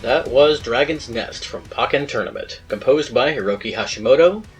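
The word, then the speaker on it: Pokkén: called Pokemon Tekken, because in Germany, Pokken sounds like the word for smallpox.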